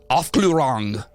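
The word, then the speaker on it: Aufklärung: of like-minded people to propagate the boy the off glorang that sounds so weird when you say it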